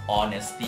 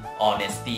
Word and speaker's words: honesty: คำ ใน นี้ ครับ ตัว H นะ ครับ จะ ไม่ ออก เสียง ออก เป็น or นะ ครับ honesty นะ ครับ honesty นะ ครับ เ่อ honest